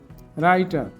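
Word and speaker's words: writer: এই যে ডব্লিউ এর পরে আর আই থাকলে ডব্লিউ এর উচ্চারণ হয় না। যেমন right, রাইটার, return, রাইটেবলি, right headed, রিট, রাইট down.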